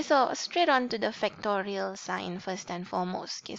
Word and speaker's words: factorial: Tanda seru, it's pronounced as factorial.